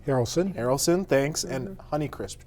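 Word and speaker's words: Haralson: prune apple trees she's got now sorry about pronouncing this harlison Harrelson Harrelson thanks and honey crisp trees okay where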